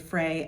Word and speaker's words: Freyr: Um I usually typically stick with sort of what was at one time the academically accepted Frey, f r e y r. Um silent r at the end, um but I know